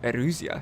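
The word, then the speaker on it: Erusea: cut princess of the kingdom of Eurasia Oh Arusha is how you pronounce it yes Darry play I absolutely love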